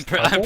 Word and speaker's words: tuple: Oh, I'm tuple? pronouncing it wrong. Oh, it is like the suffix for quintuple.